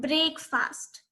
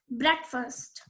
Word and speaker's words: breakfast: It is not breakfast. The correct pronunciation is breakfast.